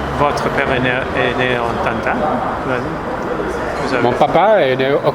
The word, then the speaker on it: Tanta: Alors, il y a l'accent tonique sur le premier A, donc on dit Tanta.